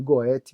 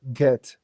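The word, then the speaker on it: Goethe: autor da filosofia que muita gente chama de Goet, mas não é esse nome porque ele é alemão. Então, a pronúncia não é essa, é get.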